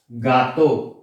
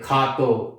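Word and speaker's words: gato: नहीं, for example Spanish का example देता हूं मैं, ये होता है गातो, गातो, गातो, but like this is Spanish में इसे पढ़ते हैं खे। अभी से हम ये नहीं बोल सकते खातो, नो।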